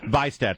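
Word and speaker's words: Vihstadt: I always have trouble pronouncing his name. Vistad.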